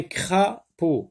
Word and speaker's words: crapaud: Un crapaud. Crapaud. Deux syllabes. Cra et peau. D est une lettre muette.